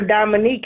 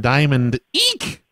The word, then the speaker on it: Dominique: No, I said, you asked for Dominique. I said, I'm her mom. Well, that's just confusing. Also, I pronounced her name Diamond Eek. Because I thought that's how it was.